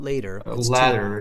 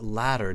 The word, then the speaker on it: latter: touch screens okay um latter decades it's not later decades yeah because of the two T's it's latter decades the latter decades means